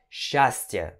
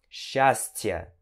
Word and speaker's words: счастье: Então você vai pronunciar счастье, ok? Счастье, счастье. Apesar da escrita ser assim, a pronúncia é assim, tá certo?